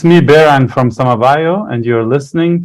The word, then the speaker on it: Behrang: My name is Behrang in Persian, but everybody in Germany says Behrang, or Behrang in English. So it's Behrang.